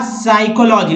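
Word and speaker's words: psychology: तो दोस्तों यहाँ P नहीं पढ़ना है, PN से, PS से, PS से, तो क्या पढ़ना है, N से पढ़ना है। तो न्यूमोनिया, साम या साइकोलॉजी लिखेंगे जरूर, कंफ्यूज हो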